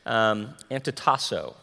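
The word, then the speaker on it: ἀντιτάσσω: Resist actually means, if you want to hear the Greek word pronounced wrongly, it's antitasso, okay? Antitasso.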